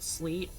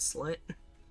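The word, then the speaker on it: Sylt: It's spelled S-Y-L-T. I think it's supposed to be pronounced silt, but sometimes I pronounce it sleet, and also you could technically pronounce it slit.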